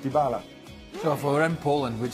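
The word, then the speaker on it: Dybala: don't speak Polish but some people believe that the correct polish pronunciation is dibala and not devala so for em Poland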